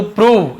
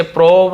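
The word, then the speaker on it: prove: यह कठिन है टू प्रूव इसे प्रोव नहीं पढ़ेंगे प्रूव पढ़ेंगे प्रूव याने साबित करना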